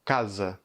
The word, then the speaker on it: casa: Prenons comme exemple le mot case, qui signifie maison. La première syllabe, on prononce K avec un A ouvert, et la deuxième syllabe, Z, on prononce E.